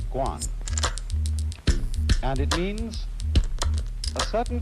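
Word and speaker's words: 觀: eggs on it the whole character is pronounced Guan and it means a certain kind of observation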